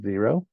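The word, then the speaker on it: Xero: So here I see one person is using Zero.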